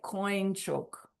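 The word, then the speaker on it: དཀོན་མཆོག: But when it's said it sounds like coin choke, like coin in English. I don't know why. Sum is the word for three. The number three. Coinchoke means um pre precious.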